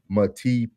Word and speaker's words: Matipa: Jen, I can see Jen said it's pronounced Matipa, Matipa, Matipa, Matipa.